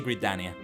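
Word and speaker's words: Gridania: all gania first gania sorry gania is the right way to say it maybe it's a potato potato situation but I prefer to say gania my favorite uh of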